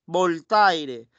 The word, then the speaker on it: Voltaire: de ellos bolt aire se escribe volta aire se pronuncia volta para la gente que no sabe francés voltaire para gente y piris voltea y el otro